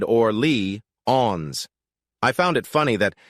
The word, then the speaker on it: Orléans: I found out right away that it's not pronounced like how Americans say New Orleans. It said Orly-ons.